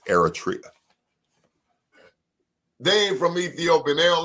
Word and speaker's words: Eritrea: damn they from Eritrea airtria make sure you say it right it's Eritrea Dave from Ethiopian they